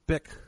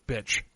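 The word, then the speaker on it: Bich: of Huey Han and Bic Ha Pan. And Bic is spelled B-I-C-H, but it's pronounced Bic like the lighter. Yes. Yeah, but I watched a documentary where they were calling her bitch.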